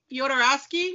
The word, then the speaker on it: Jodorowsky: Well, is it Jodorowsky?